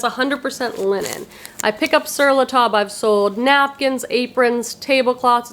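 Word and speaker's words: Sur La Table: I pick up Siratub. I've sold napkins, aprons, tablecloths. It's a very expensive store. It says sir table, but they pronounce it tub. It's French.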